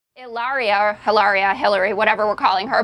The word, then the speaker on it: Hilaria: It's not Hilaria. It's not Hilaria. It's not even Hilaria. There is no H. There's no H. So pretend there's no H. It's Okay. Hilaria.